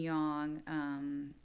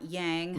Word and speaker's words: yang: you don't know it's it's actually young not yang not yang Yeol yeah it's really not how you say it in ancient Chinese or any Chinese language it's just you know